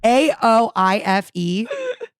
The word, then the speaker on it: Aoife: AOIFE. AOIFE. And that is pronounced Aoife.